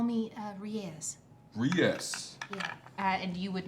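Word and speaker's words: Riese: Riez. Oh, well, I took a different route to get to that pronunciation.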